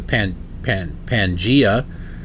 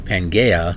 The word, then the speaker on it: Pangaea: And I'm like, oh, it's a Pangea or a Pangaea. It's pronounced both ways.